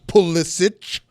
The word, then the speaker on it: Pulisic: I'm going to pronounce it right, like Kristen Pulisic with a ch, not a k.